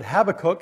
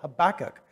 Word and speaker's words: Habakkuk: pronounce it that way have a cook but there was a jewish man who said it's pronounced with the emphasis on the second syllable habakkuk so that's how i'm